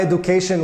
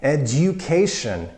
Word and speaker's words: education: way education education my education was Polytechnical University not II do but a Jew the U becomes itself a you after the hard consonant D education education number seven or